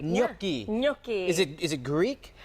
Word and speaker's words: gnocchi: reveal gnocchi.